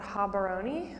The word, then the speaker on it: Gaborone: capital, which is called Gaborone, but which is spelled Gaborone. I'll point it out on the map, but the G's in Setswana are actually H's.